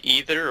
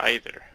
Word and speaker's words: either: judge you that's funny do you say either or either I say I'll say both and I'll usually say